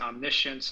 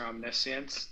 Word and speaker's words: omniscience: My second question is about what omniscience means, or how other people would pronounce it, omniscience or omniscience in the Avatamsaka.